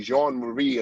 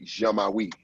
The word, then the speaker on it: Jean-Marie: It would be Jean-Marie in French. Et ça parle français. But my first language that I speak is a combination of French and the African dialect, tribal dialect.